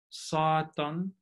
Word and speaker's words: Satan: So we have Satan with a long stressed vowel in the first syllable, but Satanis with a long stressed vowel in the second syllable.